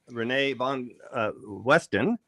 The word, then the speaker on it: René van Westen: And by the way, say it correctly in Dutch. René van Westen. Okay, close. But it was perfectly already. Okay, I'm sure you're quite used to having it said all different ways.